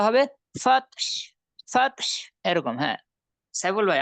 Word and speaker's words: فتح: ওয়াল ফাতহ, হাটা স্পষ্ট করবেন, হ্যাঁ, যত সম্ভব হাটা মানে যাতে শোনা যায় এরকম ভাবে উচ্চারণ করবেন।